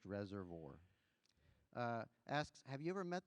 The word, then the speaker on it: Reservoir: Tully from Reservoir, because he says it's pronounced Reservoir, asks, have you ever met the president or any president?